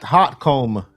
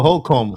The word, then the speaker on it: Holcomb: Yeah, Brett Hotcomb. Is that how you say it? Oh, Holcomb. Holcomb.